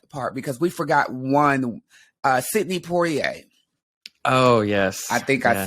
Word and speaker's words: Sidney Poitier: Sidney Poitier.